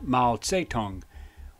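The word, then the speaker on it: Mao Tse-tung: Mao Zedong, also pronounced Mao Zedong, was the most impactful Chinese leader in history.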